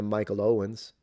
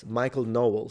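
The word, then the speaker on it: Knowles: more libertarian than a Michael Owens. Michael Owens sometimes has made statements. I've I've watched this debate between Michael Owen. No, sorry. Am I mispronouncing it? How is it called? No. Michael Noles.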